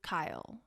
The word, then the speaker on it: Keil: me at kelsey w kyle kyle is spelled k-e-i-l i'll put that in